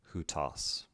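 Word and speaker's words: οὗτος: This begins rough breathing, the diphthong again, which is pronounced oo, who with a tau, omicron, sigma, hutas.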